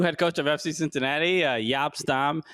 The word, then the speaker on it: Jaap Stam: Yeah, they got the wrong photo of the new head coach of FC Cincinnati, Jaap Stam. Jaap Stam. Yes, that's how you pronounce it.